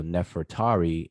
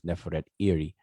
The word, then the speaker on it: Nefertari: is her name, but we pronounce it conventionally as Ahmose-Nefertari. But her name, even Neferet is we say Nefertiti, and so Nefertari, her name is Neferet-Iri.